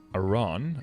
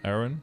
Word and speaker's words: Aran: let's get going so we have an iran aaron how do you say it i say iran okay both oh yeah exactly i've heard it both um 244 you still